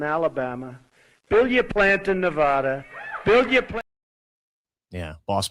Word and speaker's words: Nevada: He goes, FYI, Mark Elias agrees with Ash on how to pronounce. What? You go ahead and say it. You can say it. Nevada.